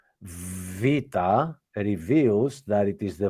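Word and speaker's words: βήτα: second line is not exactly correct because because first off, the Veta, it's been written as beta, and this is not right. It is Vita, V. Vita. Yes, Vita.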